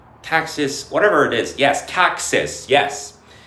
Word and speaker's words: Caxis: Yes, Caxis. Yes. It's spelt c a x i s Caxis.